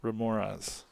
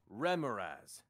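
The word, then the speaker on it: remorhaz: the thunder is coming h is silent all right here we go here we go here we go ramirez there you go thank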